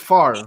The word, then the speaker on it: Favre: do you say well why is it brett favre even though it's like spelled favre is that how it's spelled because i could not figure out how to spell it it's about favre but it's far like you know english man